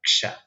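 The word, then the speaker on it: क्ष: poquito más suave, y la letra compuesta, porque son 2 letras, la K y la Ya. Ksha, se pronuncia Ksha.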